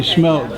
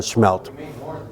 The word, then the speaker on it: smelt: If you read it like it's spelt, it's smelt. And I'm sorry. I still call it smelt. But some of the traditional people, they still call it schmelt.